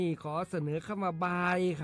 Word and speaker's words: บ่าย: ขอ เสนอ คำ ว่า บ่าย ครับ บ่าย เขียน บ่อ ใหม่ ๆ แม่ เอก สระอา ย่อ ยักษ รวม กัน แล้ว อ่าน ว่า บ่าย บ่าย มี อยู่ 2